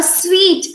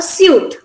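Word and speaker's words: suite: this is sweet a sweet is a luxurious room you see in a hotel where you stay it's a sweet instead of a suit this word i know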